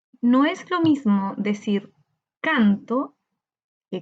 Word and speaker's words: canto: No es lo mismo decir canto que cantó. Hay una diferencia muy notoria. Canto, cantó. Veamos, cuando decimos canto, canto, la sílaba tónica la encontramos en can, canto.